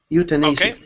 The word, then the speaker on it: euthanasia: time someone brought up the subject of euthanasia euthanasia there you go that's euthanasia Ethan euthanasia try